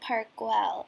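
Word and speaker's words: Park Güell: a little bit too so apparently is pronounced park well and now that we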